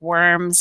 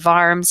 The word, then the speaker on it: Worms: called the diet of arms it looks like worms it's pronounced farms and it's a city in Germany the diet